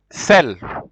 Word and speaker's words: celles: Cell. It is written with S, but you just pronounce it as if you don't.